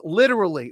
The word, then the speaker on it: literally: I wonder how I can pronounce literally. Why does everyone want to know that? Literally, you push the R.